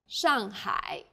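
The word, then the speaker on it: 上海: a word in pinion the pronunciation for the famous city shangai is shangai the first syllable here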